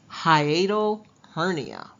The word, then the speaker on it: hiatal hernia: It's pronounced hiatal hernia.